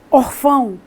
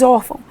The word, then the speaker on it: órfão: sílaba tônica é o você não fala orfão aquele menino está orfão você diz órfão esse tio nada tem